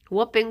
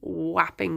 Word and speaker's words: Wapping: Whopping Wharf. It's spelt like WAP. W-A-P. Whapping Wharf.